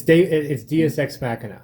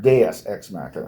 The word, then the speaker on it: deus ex machina: It's Deus Ex Machina. Yeah, not Deus Ex Machina.